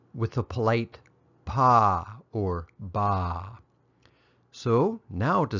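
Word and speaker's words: ပါ: the way of review the polite particle is pronounced ba or more often ba it's used in speech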